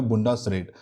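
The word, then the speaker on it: Bundesrat: Upper house का नाम है बुंडसरेट, ये थोड़ा हार्ड है प्रोनाउंसिएशन में, इसका नाम है बुंडसरेट।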